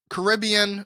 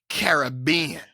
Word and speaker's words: Caribbean: So it is Caribbean berry.